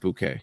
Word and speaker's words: Bucket: Hipatia Bucket is the character she played. Um, unfortunately she passed away. She passed away today at 19. Hey, sorry. It's pronounced bouquet.